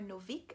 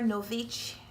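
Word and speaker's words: Nović: Girl at War by Sarah Novik, I think the name is pronounced. I've since learned that the name is pronounced Sarah Novich, and I did a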